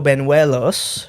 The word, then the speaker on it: Banuelos: So today's guest is a longtime friend of mine, Alberto Banuelos.